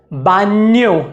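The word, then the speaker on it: baño: अगला जो अक्षर है उसका उच्चारण है एन्ये, एन्ये। जैसे कि कारिन्यो जिसका मतलब होता है प्यारा, बान्यो जिसका मतलब होता है गुसलखाना या फिर अंग्रेजी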